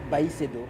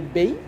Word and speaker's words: Baycedo: Le Bay causait problème, pourquoi? Parce que certains disaient Bay, mais nous, ça sonnait mal pour nous. Et nous, on a essayé de voir quelle est la prononciation la plus adéquate pour nous et la plus, comment dirais-je, la prononciation qui serait plus vendable et plus marketing quoi. Donc on a choisi Baycedo.